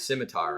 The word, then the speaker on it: scimitar: It's scimitar, right? Yes, Scimitar, yes. Scimitar. Scimitar. Scimitar. Scimitar. The C is silent.